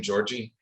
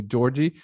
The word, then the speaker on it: Georgi: her name georgie yes that's the american way of pronouncing of pronouncing my name uh that's the uh every american call me georgie the the correct way would be georgi but it's really pure bulgarian so i don't uh